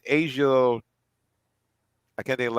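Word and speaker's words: A'ja: She had just won the Naismith Award for High School Basketball Player of the Year, and I think it's always mispronounced her name. It's Asia.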